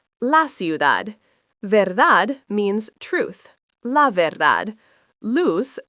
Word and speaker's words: luz: Luz, phát âm giống "loose" nhưng có âm Z, nghĩa là ánh sáng. La luz.